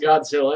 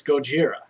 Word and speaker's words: Gojira: and how things are pronounced like Godzilla isn't pronounced Godzilla it's Gojira no one understands why but we still go